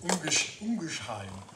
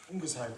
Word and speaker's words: Ungersheim: This is a place called Ungersheim, that's how they say it. Ungersheim, and this is in Alsace, in the northeast of France.